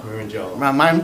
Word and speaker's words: Marangello: Marangello. Rhymes with mellow yellow.